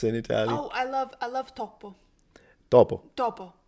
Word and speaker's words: topo: Oh, I love topo. Topo. Topo. Topo, Just like a one mouse. P. Yeah, I love. Yeah, one P.